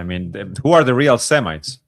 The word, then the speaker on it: Semite: Even the names, for instance, if you go back to the original name Semite are the people that No, you're saying it right.